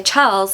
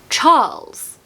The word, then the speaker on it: Charles: even more so now if you want to say Charles in a very RP accent don't pronounce the r and just elongate the a so Charles Charles now you'd think that the